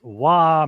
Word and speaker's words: Roy: Yeah, I like the addition of Nicholas Waugh or Roy. I don't know if he's French or not, but the right way to say it is Waugh anyway.